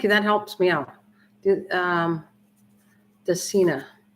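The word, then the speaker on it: Dracaena: Dacina. It's pronounced Dacina Janet Craig Compacta.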